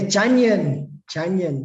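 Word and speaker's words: Jungian: correctly, that the 12 Junigan or Janigan archetypes. Yes, Janyan. Yeah, Janyan, like onion.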